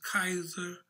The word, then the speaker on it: Caesar: a cyrus or a caesar whose name in latin is pronounced kaiser god was god before